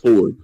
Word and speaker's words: Fjord: Like, But it's spelled Fjord. But it's Yeah. pronounced Ford.